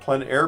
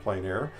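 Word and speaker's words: plein air: means outdoors in French the French pronounce it plenair others pronounce it plain air no matter how you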